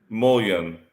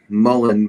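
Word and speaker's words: Mullein: or spice being called Mullen but it's always been mullion do you remember it spelled like he does no it looks like Moline like kind of like Colleen that's what I'm trying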